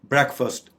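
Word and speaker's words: breakfast: ब्रेकफास्ट इसके 2 syllables हैं, जैसा कि हम स्क्रीन पे देख रहे हैं, ब्रेकफास्ट।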